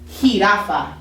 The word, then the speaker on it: jirafa: It's like an H sound, okay? So for example, since I said giraffe, this would be jirafa, jirafa.